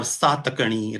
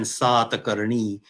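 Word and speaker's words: Sātakaṇi: on on their coins so i'm inclined to say vaasiti puta rather than vasishthi putra or satakani rather than satani which is even worse i think so i i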